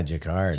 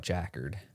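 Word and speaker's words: jacquard: uh Thomas's favorite Creole jacard is that how you say it yeah jacard jard upper unless your from Central PA then you call it jackard Jack which I think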